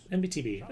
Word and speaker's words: MBTB: It is pronounced as the letters MBTB. MBTB, okay.